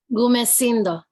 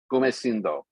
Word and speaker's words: Gumecindo: and A Crown for, you're gonna have to pronounce this for me. Gumecindo. Gumecindo.